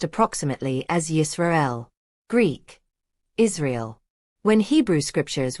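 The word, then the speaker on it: ישראל: In Biblical Hebrew, it is pronounced approximately as Yisrael.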